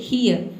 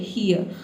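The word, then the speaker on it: hear: और यहाँ पे जो आर लेटर है ए भी साइलेंट रहेगा। क्यों? क्योंकि आर से पहले देखिए ए लेटर आया है। ए क्या है? आपका वावल है, इसलिए हम यहाँ पे इसको क्या पढ़ेंगे? ईयर। ठीक है, हियर। ठीक है, हियर। आप आर को साइलेंट रखेंगे तो आप सही प्रोनाउंस करेंगे।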